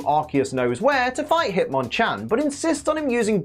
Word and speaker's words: Hitmonchan: physics it turns out Hitmonchan has a trainer who turns up and starts pronouncing his name Hitman chin Hitman chin Hitman chin that's going